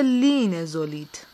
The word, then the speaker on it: لینزولید: بگو لینزولید. اینجا گفته لینزولید، تلفظش اینه لینزولید.